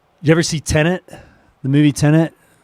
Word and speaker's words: Tenet: It's not tenant. It's Tenet. Tenet, like an ideal.